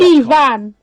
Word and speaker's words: Ifan: I remember because it's spelled Ifan, but your name is Ivan, and your dad went into a very long, slightly tedious lecture as to why that's the case.